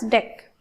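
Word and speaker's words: deque: now introduction to DQ DQ pronouns deck this is uh actually this is pronunciation as a deck but uh in simply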